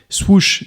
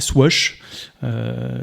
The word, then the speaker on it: Swoosh: Le métaverse de Nike, qui s'appelle, alors je crois que ça se prononce aussi en anglais, Swoosh et pas Swash.